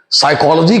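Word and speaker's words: psychology: है इसीलिए लेकिन नहीं साइकोलॉजी का स्पेलिंग होता है पी एस वाई सी एच ओ एल ओजी वाई यहां पर पी साइलेंट हो जाता है साइकोलॉजी का मतलब होता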